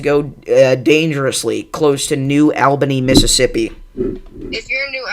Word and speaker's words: New Albany: So, uh, apparently it's pronounced New Albany, but I I should be able to know how to pronounce that.